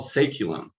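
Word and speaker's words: saeculum: not really used very much anymore it's called ceculum it's spelled s-a-e-c-u-l-u-m and it was a term used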